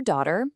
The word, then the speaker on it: daughter: That makes Karen their daughter and Jack their son. Oh, and a quick pronunciation tip. With daughter, that G H in the middle is completely silent. Just pretend it's not even there.